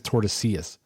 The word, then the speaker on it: Tordesillas: I think it's Tordesillas because like they pronounce their double L's like yeah.